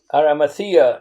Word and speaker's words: Arimathea: from where I live, in Aramathaim, Arimathea, as it is pronounced by English speakers.